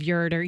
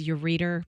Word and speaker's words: ureter: checking the pronunciation of ureter you keep saying ureter ureter ureter okay I thought it was your reader but no no okay no no